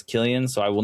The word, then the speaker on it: Cillian: pronounce Cillian's name, and I have found out it's Cillian, so I will not